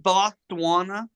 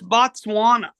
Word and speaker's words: Botswana: pronounce it BOS you you pronounced it bana until today it's Botswana I I know that